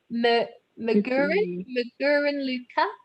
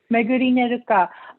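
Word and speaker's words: Megurine Luka: I might be mispronouncing that. Magurin Luca? M-E-G. Oh, yes. Megurine Luca.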